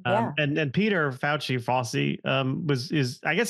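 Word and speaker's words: Fauci: was faci although uh we didn't pronounce it fouchy we pronounced it FY for some reason I'm not sure why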